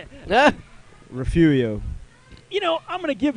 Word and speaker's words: Refugio: all the time i can't even say it refugio you know i'm gonna give you that i'm going to give you that it's darn close refurio you said refugio is close enough we'll get the ball i